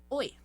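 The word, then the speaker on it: ㅚ: Apesar de ser a vogal O mais a vogal I, a pronúncia vai ser OE, tá bom? OE, OE. Você fala sem deixar nenhum intervalo entre elas.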